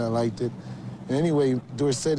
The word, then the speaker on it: Dorsett: to me as Tony Dorset and I liked it and anyway Dorset is supposed to be a French name and SE spells sit